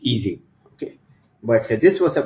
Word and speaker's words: Ising: Okay, but Ising was German, so in German it's Ising.